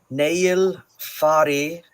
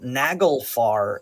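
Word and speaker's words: Naglfari: Nail fari, or it's worth noting that the G is kind of a softer G. So instead of nagelfar, it would be pronounced nail. Nail. Like the G is kind of almost a Y sound.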